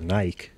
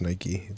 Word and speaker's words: Nike: But I just feel like Nike, or as they say out there, Nike. Weird. It's like Mike. Yeah, but this is America. We created the brand. It's pronounced Nike.